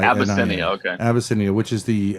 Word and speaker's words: Abyssinia: So to start off with, can you just tell me how to pronounce the name of the restaurant? Sure. Abbiscinia. Ab y ss i. Abiscinia.